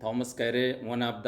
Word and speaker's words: Carew: इसके ऑथर हैं थॉमस कैरे, हैं थॉमस कैरे। आप देख पा रहे होंगे CAREW, डब्ल्यू इसमें साइलेंट है और पढ़ा जाएगा कैरे।